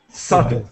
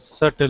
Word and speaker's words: subtle: So just with this word here, we do not pronounce the B. The B is silent. Subtle. Subtle.